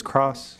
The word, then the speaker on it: Krause: According to Wikipedia, Jerome Richard Krause was It says Cross.